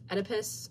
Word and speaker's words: Oedipus: this has anti Antigone um Oedipus I believe is how you pronounce it Adam is the king